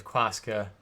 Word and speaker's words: Quaska: His name is Quaska. It's spelled exactly like it sounds.